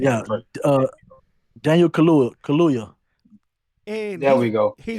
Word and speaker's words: Kaluuya: I don't know how to pronounce Daniel that. K. Yeah. Daniel Kaluuya.